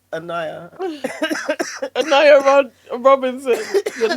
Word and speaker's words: Onijah: Onija Onija Robinson who has taken over Pakistan. Wasn't it Annayia? Annayia. Yeah. I think I think N or Dante, our producer said it's Annayia.